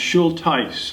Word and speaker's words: Schulthies: great grandfather's gun John Martin schulteis and it's pronounced she'll Tice like neckties schulties the street that he made from the crest